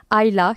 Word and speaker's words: Isla: Et l'île, c'est un truc qui revient plusieurs fois, notamment à travers le nom de la mer, Ayla, qui s'écrit Isla.